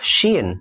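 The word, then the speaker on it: شين: titik tiga di atasnya namanya syin namanya pun hampir sama bunyinya kayak huruf s hampir sama juga cuman dia kayak ada unsur y-nya Sya syi syu kalau Sin agak tipis sa si su kalau Sinin agak tebal Sya si suu 14 ada huruf kayak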